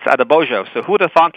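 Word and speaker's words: Adeboyejo: That, I thought it was Quincy Adeboyeho, but it's Adebojo.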